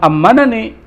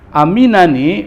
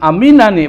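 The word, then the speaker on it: أَمِنَنِي: di akhirat waman ammanani di sini bukan ammanani waman aminani barang siapa yang merasa aman karena bahasa Arab karena enggak ada harakatnya jadi di bacanya bingung juga tapi dibacanya bukan amanani waman aminani barang siapa yang merasa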